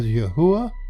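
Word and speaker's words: יהוה: We pronounce that as Yahuwah, and it comes from the Concordance H3068.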